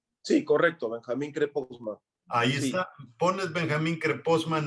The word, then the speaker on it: Krepostman: Benjamín Creposman se pronuncia. Sí, correcto, Benjamín Creposman.